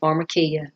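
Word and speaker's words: pharmakeia: poisoner, spellgiving potion and the word actually is pronounced pharmarmacia.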